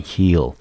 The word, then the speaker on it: heal: 好，这个字呢其实不难，它只有一个音节 ea 念成 e 发长音，这个字我们念成 heal。